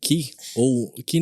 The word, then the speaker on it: ki: O Ki, na verdade é a maneira japonesa de pronunciar. Em chinês fala Chi. Ele de fato existe, só que não é qualquer um que é capaz de desenvolver.